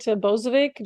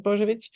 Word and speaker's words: Bozovic: I typically pronounce it Bozovic just to make it easier, but your official pronunciation is Bozovic.